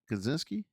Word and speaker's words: Kosinski: Kosinski.